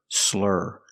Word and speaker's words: slur: because he's drunk pronunciation make that R sound like Burger slur slurring let's hear some examples